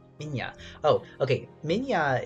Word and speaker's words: Minya: Minya is pronounced like the Russian word Minya, and I think that I pronounce it right, but I don't speak Russian.